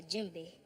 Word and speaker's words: djembe: The djembe.